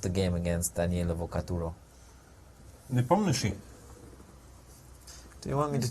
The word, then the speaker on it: Nepomniachtchi: But you're pronouncing the sh quite well. That's what I do. I struggle with the R's, but the sh's, I'm very good at. Yeah, sometimes it's spelled, well, in German at least, SCHTSCH, just Yeah, for it one feels like a for waste one of sound. letters, right? Yeah. It's just sh.